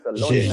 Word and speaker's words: Jaeger: Jaeger.